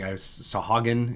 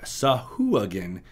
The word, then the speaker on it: Sahuagin: I think Sahuagin is kind of how I sounded it out in my brain, but Sahuagin is how the official pronunciation is. You can, of course, say it however you like, but that is what it is.